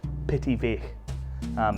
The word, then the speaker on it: Pittyvaich: This one here is one that a lot of people haven't heard of, and it's pronounced Pittyvaich.